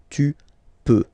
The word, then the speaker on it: peux: Then tu peux, same pronunciation and same spelling or writing. Okay, P-E-U-X. Okay, don't pronounce the final X. Tu peux.